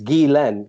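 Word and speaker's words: Ghislaine: terms of Maxwell heard the pronunciation of her name is is Galen kind of like Glenn okay uh anyway sorry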